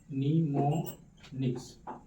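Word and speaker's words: mnemonics: जितना visualisation and निमोनिक्स ये एम यहां पे साइलेंट है।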